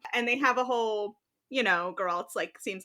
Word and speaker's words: Geralt: To forewarn you, we think that that's how you pronounce their names, Geralt and Jaskier, but we very well could be wrong.